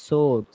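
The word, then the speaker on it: sword: একটি তলোয়ার night সোয়ার্ড না সোয়াট না সোড সোড উচ্চারণ না আর ড আরডি সোড ঠিক আছে বলেন একটি তলোয়ার নাই।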